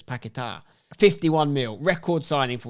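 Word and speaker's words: Paquetá: too much but lucas piqueta apparently it's lucas pakita by the way that's how you say it because the accident's on the edge it's pakitar 51 mil record signing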